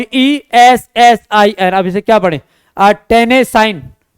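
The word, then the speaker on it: Tennessine: उसे, TENNI और ESSIN, अब इसे क्या पढ़े, टेनेसाइन, टेनेसाइन जो है एक ये है, ये हैलोजन परिवार के तत्व हैं, तो ये आपको याद रखना है।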